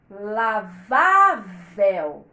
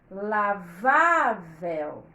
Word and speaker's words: lavável: não é mais forte lavavel lavável ela não é lavavel igual a Cascavel papel anel o que faz então esse era enfraquecer o acento na sílaba do meio na sílaba penúltima vá lavavel se não colocava centro vai ficar lavavel Então essa palavra é paroxítona forçadamente por causa do assento e é por isso